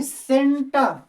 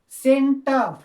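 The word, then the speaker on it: centre: सेंटर, इसे हम लोग पढ़ेंगे सेंटर, सेंटर, सेंटर, यानी आर का तब्दील हो जाता है एम। सेंटर यानी फुल्ली ब्रिटिश इंग्लिश में।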